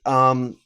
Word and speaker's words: Zedd: No, because it has extra letters in it that spell it out as Zed, which is exactly why.